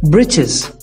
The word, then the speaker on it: britches: the above lines we the word britches which rhymes with the world witches and other the word